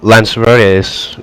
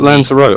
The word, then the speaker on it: Lanzarote: Is it Lanzarote or Lanzarote? It's the country of Lanzarote, so it's Lanzarote, I think. But in reality, it's Lanzarote. Yeah, we tend to say Lanzarote. that. Okay. Yeah, pronounce the E. But I don't know if that's correct. That's just how we say it in the UK.